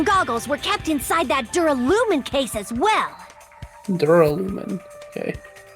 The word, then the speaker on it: Duralumin: he found a smaller case Duraluminum?